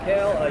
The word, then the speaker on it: Haile: I'm Hale. You can find me as Hailstorm42 on Instagram. It's spelt a little weird, like my last name. It's Haile.